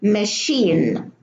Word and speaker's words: machine: We have a CH here in machine, machinery, Manchester, and Michigan. So the CH, they are not pronounced cha, they are pronounced sha.